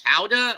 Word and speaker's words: Gouda: And there's Jason Claus shooting through a wheel of, I think that's Howda or Gouda, depending on your pronunciation.